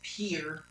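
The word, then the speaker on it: Pierre: State whose capital is properly pronounced Pier.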